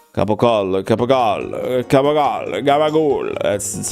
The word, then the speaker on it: capocollo: yeah, that's exactly why you guys say gabagool. Because it's capocollo. Capocollo, capocollo, capocollo, gabagool.